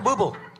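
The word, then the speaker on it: Bublé: Uh black tie optional, which is a Michael Blue Bay. How do you say that? Michael Bubble. Yeah, that's a O'Neal used to botch that.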